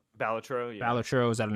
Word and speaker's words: Balatro: Then how do you pronounce it? Balatro? Balatro, yeah.